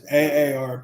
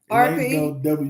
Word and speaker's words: AARP: I know, but it's AARP. AARP? WARP? It ain't no WARP. It's a double A.